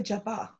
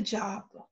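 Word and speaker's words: japa: a technique in English sometimes people say Java but the word is a job job is a technique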